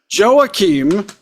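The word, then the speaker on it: Joacim: as they often do Oscar and joim which is how I've heard him pronounce his name I would have thought the Jay would have been soft but you know whatever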